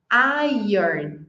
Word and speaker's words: iron: Iron. Iron. Vamos repetir? Iron. Iron. As palavras terminadas em SM, a gente quer pronunciar tipo Toriza, não sei muito bem como